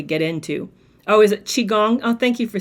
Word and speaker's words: Qigong: It's Qigong.